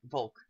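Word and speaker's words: Wolke: Volk.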